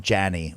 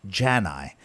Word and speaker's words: Jani: at someone's wedding there's nothing more upsetting than someone saying something like jason janney or jason yani when the proper pronunciation of my last name is jan i and if you are